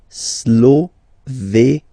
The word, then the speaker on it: Slovénie: Remember, you get this E accent aigu here, it's E. Slovénie. Final E, as usual, not pronounced.